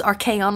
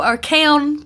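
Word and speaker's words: Archaon: guys don't clock me i knew i was saying it wrong but it's archaion okay so our kaon come see me as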